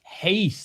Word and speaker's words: Reis: Let's see if Reis, that's how you pronounce it.